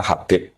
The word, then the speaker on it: Habib: Itu di harokatnya kitab itu ada yang nulis Hubab. Tapi yang benar, oh enggak, yang benar itu bacanya Habib.